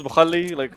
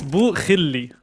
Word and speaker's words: Bukhilli: Am I doing an okay job with the pronunciations, Bukhalli? I've been trying to like authentically throw that in there. So it's Bukhilli, not Bukhalli.